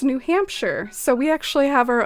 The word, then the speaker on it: New Hampshire: the u.s for that correct pronunciation of shire being like sure and it's new hampshire so we actually have our own shire here in the u.s by the name of new hampshire and it was there